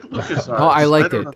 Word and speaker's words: LucasArts: But yeah, so By the way, Ryan, I really enjoyed how you mispronounced LucasArts and you called it Locus Arts.